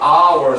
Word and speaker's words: hour: H가 맨 앞에 오면 hour 소리 내잖아요. 묵음 처리되면서.